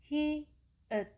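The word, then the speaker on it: 히읗: next letter is the last Korean Consonant which is called "Hi-Eut". The sound of "Hi-Eut" is similar to "H" sound in Roman Alphabet. So, the way to pronounce "Hi-Eut" is "Heu", "Heu", "Heu".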